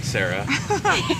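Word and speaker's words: Sarai: making in this world and I said your name wrong Sarah I've seen Sarah spelled a lot of ways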